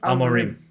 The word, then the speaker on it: Amorim: Amorim.